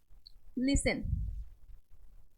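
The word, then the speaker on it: listen: चलिए silent T वाले words देखते हैं हम। क्या है ये हमारा? Wrestle, लिसन, castle, फासन, फासन।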